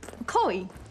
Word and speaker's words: Chloe: Chloe, remember? Rhymes with snowy, like this country I was telling you about.